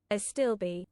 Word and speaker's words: Astible: How do How do you reckon you'd pronounce that? Aelby. Can I ask Uh, a stillby. A stillby. Pronounce that in typo. A stillby. There you go. That's how you say that.